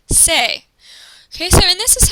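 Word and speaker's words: C'est: And to say it's, you would say say. C''est is pronounced say.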